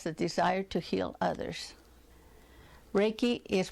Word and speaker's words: Reiki: anyone who has the desire to heal others Reiki is pronounced ray like as in our a Y